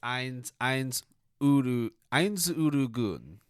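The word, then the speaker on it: Ainz Ooal Gown: I can never pronounce it well. It's Eins Urugun.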